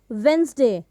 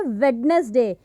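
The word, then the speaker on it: Wednesday: वेंसडे, लेकिन इसका जो सही उच्चारण है वो वेंसडे होता है, लेकिन कुछ लोग इसको क्या बोलते हैं, वेडनेसडे। यहाँ पर जो ये डी की साउंड है हम उसको ऐड कर देते हैं, तो व्हाट वी हैव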